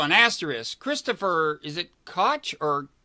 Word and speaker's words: Koch: Christopher, is it Koch or Coke or what? Do we know how he pronounces his last name? I've heard it so many different ways. I think the correct pronunciation is cock.